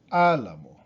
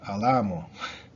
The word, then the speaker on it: álamo: Same thing with álamo. Álamo. Álamo. If it did not have an accent, would it be alamo?